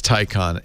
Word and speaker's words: Taycan: Porsche wants you to pronounce it Taycan.